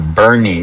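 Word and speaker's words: Boerne: So, I'm heading down to Bernie, Texas, which is spelled B O E R N E, which in Dutch would be Bour.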